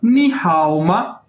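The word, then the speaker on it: 你好吗: ये देखें, ये आ गया हमारे पास नी हाओ मा, नी हाओ मा, नी हाओ मा, ये इसकी प्रोनाउंसिएशन है, यानी इसको कैसे बोल रहे हैं,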